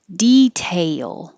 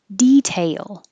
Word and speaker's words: detail: heightened awareness this one you can say detail i put tail to represent you go tay very high and you'll you'll come down detail or detail detail inventor